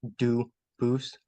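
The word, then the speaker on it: Dubois: I know a family with that same exact spelling in America. They do pronounce it dubis, but you said you pronounce it dus as the original duboose as the original French.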